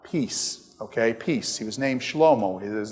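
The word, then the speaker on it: שלמה: Now David has a son named Shelomo. I mean Solomon. His real name is Shelomo, but you guys call him Solomon unfortunately.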